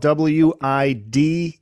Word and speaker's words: Widelitz: Yeah, I'll put the links in the show notes page, but it is spelled W-I-D-E-L-I-T-Z.